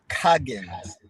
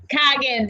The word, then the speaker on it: Coggins: show we are here today with Clarence Cobbs Coggins I am messing up your name that's quite all right uh it's Coggins Coggins yes Clarence Coggins and he is the author